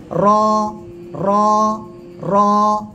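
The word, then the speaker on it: راء: জিহ্বার পিঠ তার বরাবর উপরে তালুর সঙ্গে লাগিয়ে মোটা আওয়াজে উচ্চারণ হবে র র র।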